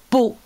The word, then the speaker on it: Pau: Ben oui, Pau avec un P, bien sûr, P. Alors, Pau. Oui, comme ça s'écrit, pareil. Pau.